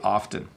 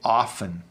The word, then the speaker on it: often: I am supposed to say the T.